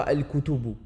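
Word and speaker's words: الكتب: comme on l'a vu, on prononcera toujours le lam. On mettra une soukoun sur le lam et on prononcera le lam. Donc on dira, dans ce cas de figure, on dira al-kutubu. Al-kutubu. Donc on prononce le lam.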